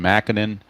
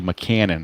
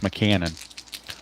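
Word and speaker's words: Mackanin: Mackinnon, but it's officially McCannon. That's how the media pronounces it, so I'll go with it. It's McCannon. Like Ma, like your mother, and cannon, like you're firing off a cannon.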